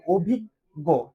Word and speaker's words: অভিজ্ঞ: যেমন অভিজ্ঞ অভিজ্ঞ এইযে দেখ এখানে কিন্তু আমরা থেমে যাচ্ছি। এখানে কিন্তু আমরা আর অভিজ্ঞ গো উচ্চারণ করতেছি না। তুমি কি এটা অভিজ্ঞ গো উচ্চারণ করো না। এখানে অটা আসলে নাই।